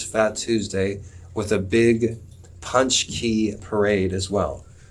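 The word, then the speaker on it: pączki: tuesday with a big punch key parade as well so it's pronounced punch key these donuts they're polish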